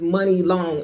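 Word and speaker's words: Muni Long: Her name, her stage name is Money Long. It's not spelled money like M O N E Y. It's spelled what? M U N I.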